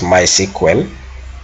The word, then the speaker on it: MySQL: end my SQL uh which is normally pronounced as my sequel then I want Django